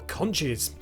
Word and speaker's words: conch: of character inverts are conches the oddball conch or conch to give it its true pronunciation is one of my